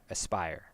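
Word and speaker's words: Aspyr: asper and I asber or as Aspire I think is how it's pronounced as P yr Aspire oh I I will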